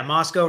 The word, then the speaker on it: Moscow: um and today yeah Moscow rhymes with Costco so we've got all